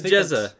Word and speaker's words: Jezza: Running for British president, is his name is Jezza. It's just it's wait. I was told it's pronounced I was told pronounced like pizza. So it's Jezza.